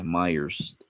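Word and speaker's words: Meijer: they're like Walmart's um I think they're called Myers yeah Myers but it's spelled with a J in the middle of it and um so that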